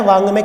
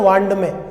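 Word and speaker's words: वाङ्मय: तो कै वर्ग का पंचम अंगा, इसका हम उच्चारण भी कई लोग तो इसको ये पढ़ते हैं वांड में, जबकि शुद्ध उच्चारण है वांग में, ठीक है।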